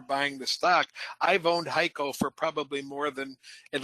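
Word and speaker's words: HEICO: It's pronounced Haiko uh but it's spelled H E I C O.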